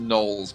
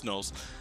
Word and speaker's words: gnoll: I think it's just pronounced gnolls, by the way. It's gnolls.